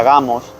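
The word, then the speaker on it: γάμος: que ya hemos visto que se pronuncia gamos también Mateo capítulo 22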